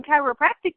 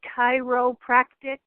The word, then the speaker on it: chiropractic: And by the way, the word chiropractic has 4 syllables. The faster you say it, we're not educating people how to say it correctly. So when you say chiropractic fast, that's what they hear, then we're putting wrong information out there. Chiropractic. It takes 4 syllables to say that correctly.